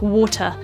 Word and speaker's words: water: our T's and so in words like water better doctor all of these need to have the T enunciated the classic example of this which everybody loves is talking about how the Brits say a bottle of water in RP English we would say this as a bottle of water because all of the t's are pronounced however in other forms